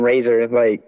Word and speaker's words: RXZR: with my homie Razor, it's spelled RXZR now.